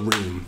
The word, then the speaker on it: Reem: That S is silent. Because I've met people and they call me Reems. And I'm just like, fam, it's just one of me. That's all it is. It's just Reem.